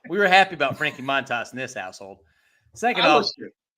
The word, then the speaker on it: Montas: were happy about Frankie Monas in this household second off I think it came out the other day that he actually said he prefers it or the actual pronunciation is moont toss so oh really I